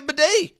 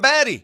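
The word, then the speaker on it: Badie: what he wants he wants to be a bedet he don't want to be a batty yeah but if I or a baddy he wants to be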